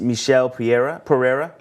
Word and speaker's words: Michel Pereira: We called him Michael last week. Yes. We will revise that. apologize. Yeah, his name is Michel Pereira.